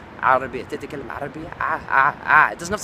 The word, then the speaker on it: عربية: It's a bit of a shame when people kind of can speak really good Arabic, but they say تتكلم عربية, and it's like no. It's عربية تتكلم عربية.